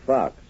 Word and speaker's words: Faux: Ruth Fox. She pronounces it Fox, but she spells it Faux.